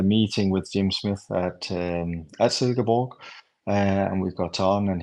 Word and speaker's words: Silkeborg: You're playing in obviously the Danish top division for Silkeborg.